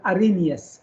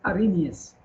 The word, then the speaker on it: Arrhenius: We don't pronounce the H. It's called Arrhenius. Arrhenius.